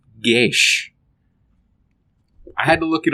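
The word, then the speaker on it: geas: no it's actually uh an old Gaelic word pronounced gesh I had to look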